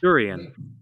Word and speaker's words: durian: Durian. Durian. Oh, hey. No. Durian. Durian. Huh? Durian. Đờ. Durian. Chữ đờ đầu tiên.